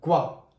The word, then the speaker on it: quoi: O-I is pronounced as W-A. So, il n'y a pas de quoi.